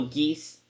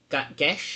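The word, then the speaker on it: Geas: Oh, geese. Gish. Apparently, it's pronounced gish.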